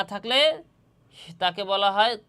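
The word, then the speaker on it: ت: ঠিক তেমনিভাবে জিহ্বার আগা সামনের উপরের দুই দাঁতের গোড়া এবং সামান্য মাড়ির সঙ্গে লাগাইয়া ত হরফটিও উচ্চারিত হবে।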